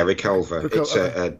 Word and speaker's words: Reculver: Gibson starts to attend, is that, how's it pronounced, Reculver? Yeah, Reculver.